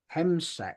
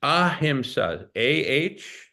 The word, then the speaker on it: ahimsa: Hemsec. How do you spell that? No, it's ahimsa. AHIMSA.